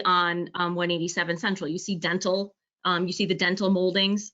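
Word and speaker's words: dentil: And for those who are unfamiliar with the term, it's dental, D-E-N-T-I-L, saying it for the public's purpose. And basically it looks like little teeth. It's just spelled with an I-L.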